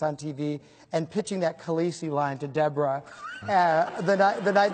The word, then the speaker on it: Khaleesi: Khaleesi.